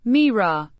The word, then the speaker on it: mira: Pronounced, Mira, with the stress on the first syllable and a slight rise in pitch.